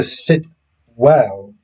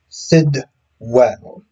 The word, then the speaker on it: Sidwell: And I know I shouldn't nitpick, but I started calling him Sitwell, as opposed to Sitwell, because I think that's how a lot of people pronounce his name, and it's actually Sidwell.